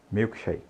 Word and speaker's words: milkshake: Note que o milk termina em K. Então, a gente tem a mania de colocar esse Ezinho aí no final. E shake termina em E. A gente tem também a tendência de pronunciar esse E. Então, lembre-se, não pronuncie esse E no final e também não coloque quando não tiver. Então, não diga milk, diga milk. E shake, diga shake, milkshake, ok?